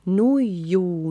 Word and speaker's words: nuiju: And we are making this emphasis on the second syllable so that we are all singing with Timo and Sari.